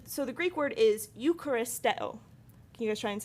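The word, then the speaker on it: εὐχαριστέω: And so the Greek word is Eucharisteo.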